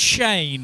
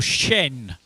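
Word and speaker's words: chien: I think it's pronounced Shane or Shen is the French word for what animal and 14 teams got it.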